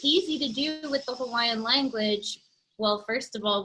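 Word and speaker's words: Hawaiʻi: where you see that what i called an okina that little backwards apostrophe is a glottal stop and that basically means you pause so a lot of our words um when you're researching things online unfortunately a lot of these okina's are left out hawaii for example is actually hawaii right there's a little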